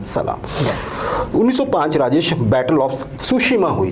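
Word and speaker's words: Tsushima: ऑफ सुशिमा हुई थी वैसे सुशिमा की स्पेलिंग के आगे टी भी है यहां पे टी साइलेंट है है ना जी वही जैसे कि आप ये समझिए कि सुनामी में होता है वैसे ही आज के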